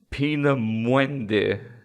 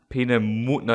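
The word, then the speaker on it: Peenemünde: a red hot go pina muende pina munna it's got the two dots on the u pina mundi future projects designed the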